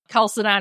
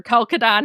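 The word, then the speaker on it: Chalcedon: disagreement over at the council of Kelsidan or Calcadon, however you want to pronounce it, of the intricate nature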